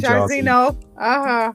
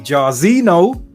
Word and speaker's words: Jairzinho: Just like in Jairzinho, there's a H there. Yes. NHO at the end. The H is silent.